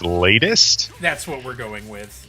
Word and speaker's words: Late[st]: And we determined that it's supposed to be pronounced latest.